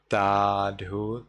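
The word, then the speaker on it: Sadhu: And here in Burmese pronunciation, you would reply Tadhu, Tadhu, Tadhu.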